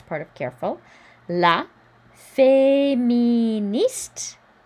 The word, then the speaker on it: féministe: La féministe. Don't pronounce the E. The E makes the T pronounceable though, so we do hear this T.